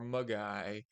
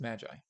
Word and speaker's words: Magi: three podcasts now or they're trying to guess if it's pronounced Magi or mugai and uh it's Magi just so you know and um there's a